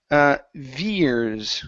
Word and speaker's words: veers: Okay, let's go to the word veers. Okay, so here you said veers. Okay, watch your R sound. Okay, so, and I was exaggerating. It wasn't that bad. But yes, you did pronounce a hard R.